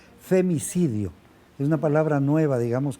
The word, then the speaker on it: femicidio: Por cierto, lo pronuncié mal, no es feminicidio, sino es femicidio.